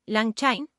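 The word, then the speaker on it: LangChain: El orquestador puede estar implementado con un framework como Lang Chin pronunciado, Lang Chin o con una lógica propia.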